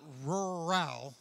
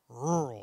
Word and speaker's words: rural: place that's called Roy now not rural that's like two syllables I'm talking rural everybody say rural you got it you